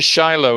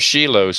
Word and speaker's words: Shiloh: know that yeah you you you and your Shiloh instead of sheilo for instance and all that sort of thing